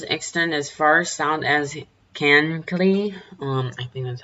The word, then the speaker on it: Kankakee: This does extend as far south as Kankakee. I think that's how you pronounce it.